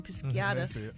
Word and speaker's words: Pisciata: His former assistant, Lauren Pisciata, I think that's how you say her name, Pisciata, says in her lawsuit that she was an OnlyFans model that made $1 million a year.